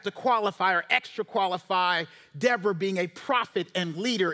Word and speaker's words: Deborah: It's actually Deborah in the Hebrew, not Deborah, right?